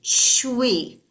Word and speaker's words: shui: And then the last one is for kidneys, and it's pronounced like CHWEE, shui, shui.